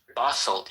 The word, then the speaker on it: Bothell: Bothell, yeah.